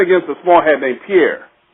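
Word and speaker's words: Peer: She was playing against a small hat named Pierre. It's spelled P-E-E-R, another small hat name.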